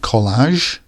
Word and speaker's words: collage: Then we have collage, which means a group of pictures joined together. This AGE at the end, pronounced age, is another sign of French words.